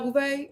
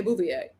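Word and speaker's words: Beauvais: Y'all say I say her name wrong. Garcel Bouvet. I say Bouvier.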